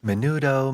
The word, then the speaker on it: Menudo: At the age of 14, he joined a Latin sensation band called Menudo. Is that how you pronounce it? Did I get that Yes. right? Menudo, Menoodle, you know.